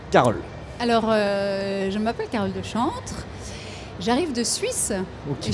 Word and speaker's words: Dechantre: J'ai bien prononcé. Deschantres. C'est Deschantres.